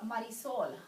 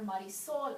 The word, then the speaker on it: Marisol: if I have a Marisol I make sure I call her marisou and not Marisol because this is the way in her culture it is pronounced Mar Soul so this is a